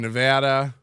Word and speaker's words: Nevada: I'm I'm over here in Nevada which is the correct way to pronounce that and um we still